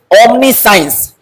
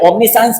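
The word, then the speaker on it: omniscience: साइंस यहां पर देखिए इसका साइंस ओमनी साइंस भी यहां सी आई का साउंड क्या हो रहा है उच्चारण सा हो रहा है तो दोस्तों ओमनी का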